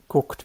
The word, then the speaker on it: guckt: And in German, this is the only time where we actually pronounce a G like a K.